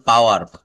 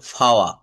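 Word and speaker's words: power: শুদ্ধ উচ্চারণ করতে গেলে যেমন পাওয়ার, এটার কিন্তু শেষের রটা বলা যাবে না। পাওয়ার। পাওয়ার। এটা ফাওয়া। ফাওয়া।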